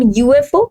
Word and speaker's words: UFO: if we see this the pronunciation of this word it will be beginning with y which is a vanjen. Also if we talk about the English pronunciation it will be like u y beginning with which is a consonant. So that this is creating the consonant sound that is why we